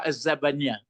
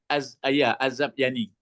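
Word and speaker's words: الذبياني: Coba membacanya saja lo Pak Bet. Ketiga berganti Pak Bet dulu baca. Apa kata An-Nabaga Az-Zabaniyah? Az-Zabyani.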